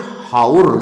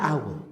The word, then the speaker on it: hour: HOUR. Harusnya bacanya haur kan gitu kan? Iya kan? Tidak, bacanya aur.